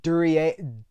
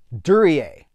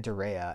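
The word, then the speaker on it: Duryea: Robinson, Joan Bennett, Dan Dur Durier Dur. Oh, I can't. I'm in my own head now. Durier. Dan Durier. I always called him Dan Dura and then uh I don't that's not right.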